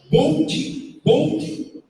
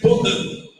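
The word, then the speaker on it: Boudin: O nome do local chama Bold Bakery. Isso numa pronúncia inglesa. Mas a pronúncia certa seria Baudin, porque é uma família que veio da França, dos Estados Unidos, e eles então começaram uma padaria.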